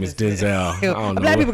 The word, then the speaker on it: Denzel: That's the correct pronunciation. His name is Denzel. I don't know. Black people gonna be like, no, his name is Denzel. I ain't changing it. It's Denzel.